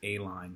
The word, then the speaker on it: Aline: Smith's office here today we're checking out 1206 a line street and that's actually how it's pronounced I've mispronounced it about five times in